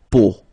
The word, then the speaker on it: peau: it, but then, so the sound that you will have to pronounce when you've got these three vowels combined together, it's the sound O, okay, so really simple, O, okay, so you get la peau, okay, la peau.